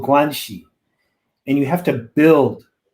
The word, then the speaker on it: guanxi: there's almost a currency in relationships it's called guanxi and you have to build this this is